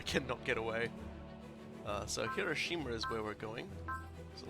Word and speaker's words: Hiroshima: go okay back to hiroshima i should say hiroshima that was a very australian pronunciation yeah we're going to